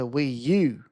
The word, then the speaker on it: Wii U: It's a Wii U. Which rhymes with PU.